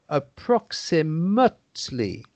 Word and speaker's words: approximately: verb it's an adverb so here we pronounce it like the noun and the adjective that is to say approximately approximately approximately that's right